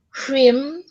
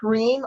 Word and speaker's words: Hrim: And it's Om Hrim Dam Durga Yai Nama. Om Hrim Dam Durga Yai Nama. Is that how am I pronouncing? It's a different phonetically. It's different. So Om Hreem I equals E.